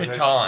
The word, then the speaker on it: piton: I thought it was Pitten, but I'm Thank not you.